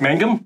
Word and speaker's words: Mangum: Okay, without further ado, we have, make sure I got your last name pronounced. Oh, let's see how we do it. Brooke Mangum?